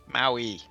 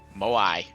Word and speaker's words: Moai: Maui. Moai.